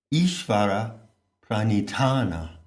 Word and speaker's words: Ishvara pranidhana: It works when you aspirate the last syllable. Ishvara pranidhana.